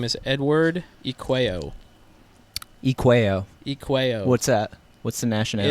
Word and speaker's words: Eacueo: say your full name so I have the pronunciation correct so everybody calls me or but my full name is Edward Ikea what's that what's the nationality it's Italian nice it used to be a uh i a c u e o